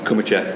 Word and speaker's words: Cumicek: Am I pronouncing that right? Cumicek.